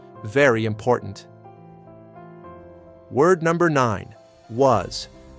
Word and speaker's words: was: Was. This means what? Another essential question word. What is that? Was the S sounds like a V here. Was.